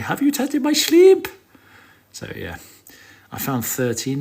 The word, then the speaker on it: Shleeemp: People are asking how to pronounce my name. It's Shleeemp.